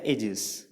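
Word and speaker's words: aegis: और एजिस को आप अगर 2-3 बार बोल के देखें तो इसमें जो प्रोनाउंसिएशन निकल के आ रहा है एजिस, यानी कि एजिस।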